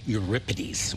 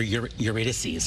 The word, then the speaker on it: Eurydice: It's Orpheus and Euripides, or Eurydice. I always say it wrong.